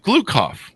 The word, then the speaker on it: Gloukhov: I believe Gloukhov, if I have that pronounced correctly, don't I, Michael? Yes, that's right.